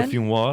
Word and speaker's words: Le Fumoir: That's how you pronounce it then. Say that again. Le Fumoir.